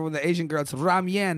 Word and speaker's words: ramen: me okay you're like hey that's how you pronounce it boys if you're ever with the asian girl so ramyan not ramen just so you know yeah yeah if you